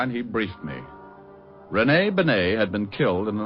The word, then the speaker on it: Bennet: It's pronounced Bennet, not Benny. That idiot was calling him Rene Benny.